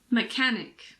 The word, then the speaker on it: mechanic: H is also sometimes silent after a C. For example, chemistry, mechanic, school, stomach, technology.